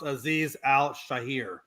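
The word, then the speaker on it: Azeez Al-Shaair: Hey, by the way, the name of that guy is actually pronounced Aziz Al Shahir.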